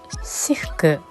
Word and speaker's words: Cirque: ですが、フランス語でサーカスのことをシフクと発音します。